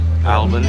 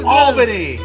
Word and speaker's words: Albany: our enunciation the capital of New York State almani no Albany Oh Albany it's an out no Albany all bunny so